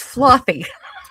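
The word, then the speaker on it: Flothe: His name is actually pronounced Flothy.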